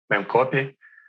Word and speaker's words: memcpy: It can be trivial data, in which case we use small buffer for trivial data and just memcpy, CPY, how do you say it? Memcopy.